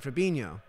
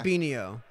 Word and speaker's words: Fabinho: All right, they're finally pronouncing his name right. Fabinho, not Yeah. Fabinho.